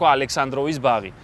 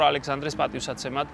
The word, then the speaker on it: Alexander's Garden: Thus creating the garden's name - Alexander's Garden But many still mispronounce it as "Alexandrov's Garden", instead of "Alexander's Garden" And while it changed names many times, during